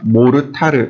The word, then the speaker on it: 모르타르: 몰탈이 됩니다 몰탈을 또는 모르타르 이렇게 이야기합니다 모르타르는 일본식 발음이라고 보시면 돼요 그 받침이 안 되는 거죠 그래서 현장에 가면 모르탈이라고 불러요 근데 영어로 하면 몰탈입니다 근데 시멘트에 모래에